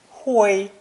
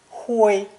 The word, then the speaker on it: 灰: It's pronounced first tone, 灰, 灰, and means ashes, dust, or ashen in color, gray.